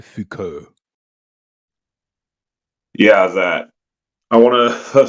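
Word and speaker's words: Foucault: u l t with pronounced the French way Fuko yeah that I want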